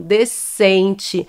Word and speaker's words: descente: s e c mas quando nós pronunciamos essa palavra esse s e esse c formam um único som decente é como se esse S nem existisse aqui né então outras palavras